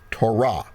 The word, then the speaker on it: Torah: some say potato so you need to put the emphasis on the right syllable okay so if we're speaking Hebrew we would say Torah Strong's number 8451 but